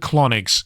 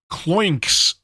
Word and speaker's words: Kloinks: name k l o oh wait no that's not how you pronounce it CL clink clinks okay I said clonics it sounded like some kind of anal colonic for a second though clinks is the better pronunciation now that I'm actually reading the word properly let me let me